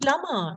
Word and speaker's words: plumber: So yes, again, the B is silent. The B is silent. It is actually plumber.